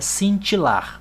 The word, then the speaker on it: cintilar: Quando a palavra termina em L, quando ela termina em L ou em R e ela não tem nenhum acento, a sílaba tônica sempre vai ser a última. Vejam aqui que cintilar não tem acento, ó, e terminou em R. Então a sílaba tônica é essa última aqui.